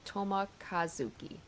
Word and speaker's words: Toma Kazuki: So, uh Japanese pronunciation often has emphasis in the middle of the word, like Toma Kazuki. Toma Kazuki.